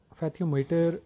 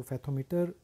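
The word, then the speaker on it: fathometer: फैथियोमीटर is used to major, तो इसको फैथोमीटर हम प्रोनाउंस करेंगे, फैथोमीटर is used to major.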